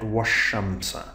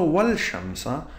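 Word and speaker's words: والشمس: So that's why we say that washamsa. We do not say wal shamsa because it's a solar letter here.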